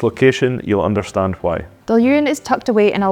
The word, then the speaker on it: Dailuaine: Here's one that even whisky lovers often get wrong. Dailuaine. It's pronounced Dailuaine, and it's one of my favourites because my granda used to work there.